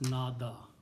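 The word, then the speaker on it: نادى: And it is pronounced as nada.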